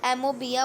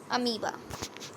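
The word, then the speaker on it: amoeba: कुछ बच्चे इसको एमोबिया बोलते हैं तो वो रॉन्ग है. इसका प्रोनाउंसिएशन होता है अमीबा.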